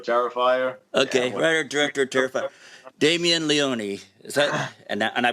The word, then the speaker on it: Damien Leone: writer director of terrifier okay writer director terrified damien leone is that and i pronounced that right correct that is correct okay